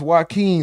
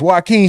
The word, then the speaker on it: Joaquin: Gregory Bean said, is it pronounced Joaquin like Joaquin Phoenix? And bro said, yes. Joaquin, shout out to you, bro.